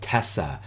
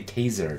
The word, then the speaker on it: Tessa: He says, no, it's Tessa, T-E-S-S-A. We have problems pronouncing things. So they, when everybody in UK would pronounce it to me, they would say taser, taser, taser. Mm. And they were they have accents. Using a Z. The sound was a Z instead of S.